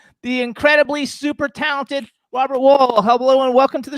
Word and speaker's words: Wuhl: i ha is it wool i i actually googled how to pronounce it actually it's pronounced my family always pronounced it a wall almost like the side of a building it is well okay